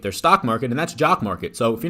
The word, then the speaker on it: Jock MKT: stock market, and that's Jock Market. So if you're not familiar already, Jock Market rhymes with stock, right?